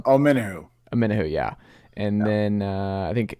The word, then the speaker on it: Omenihu: Omeniu? I'm not sure how to pronounce his name. Got Charles 1. Omenihu, yeah.